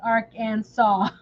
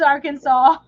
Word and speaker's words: Arkansas: there is a civilization how to pronounce Arc and saw I know it's Arkansas I was just being funny